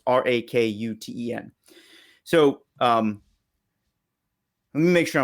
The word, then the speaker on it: Rakuten: And then Rakuten, I think is how you pronounce the third one. It's Rakuten.